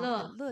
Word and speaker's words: 乐: Dan ternyata kata originalnya dibacanya bacanya yao, ya. Jadi saat 比如我们常说的乐于助人, Sekarang dibacanya adalah le ya. Tapi kalau zaman dulu dibacanya yao.